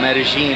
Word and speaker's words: Medellín: Alright guys, so this is my last night here in Medellin, or Medellin as the locals say, in Colombia.